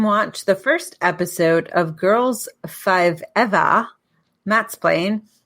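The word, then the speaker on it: Girls5eva: the first episode of girls five eva matt's playing eva is pronounced like uh the uh the joke is they use five eva because forever's too short on peak on peacock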